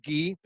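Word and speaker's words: γῆ: here is heavens uh this word right here roughly would be pronounced gee uh which would uh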